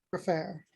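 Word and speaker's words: Gfrörer: you film her last name um g-f-r-o-r-e-r for fair she told me that i pronounced her name better than anyone else oh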